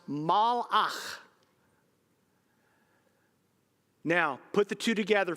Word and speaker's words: malach: The Hebrew word is pronounced malach.